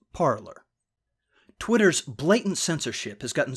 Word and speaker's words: Parler: as I can tell parlay was the intended pronunciation but considering the politically incorrect leanings of the site's users I'm more inclined to say the word with the hard are so it's parlor Twitter's blatant censorship has